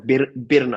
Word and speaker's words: Birna: I pronounced Berna it or wrong. Birna. Birna. I thought that E was the Yeah, I, and I was like, I'll get yeah.